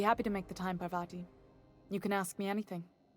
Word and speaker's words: Parvati: complete a quest for Bharti her birdie or par or vadi don't pronounce a word correctly I didn't think you just Parvati is it that's a lovely name what can